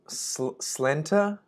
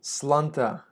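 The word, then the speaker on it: Sláinte: apparently there's a different pronunciation in Irish Gaelic, Scots Gaelic. Okay, slunta.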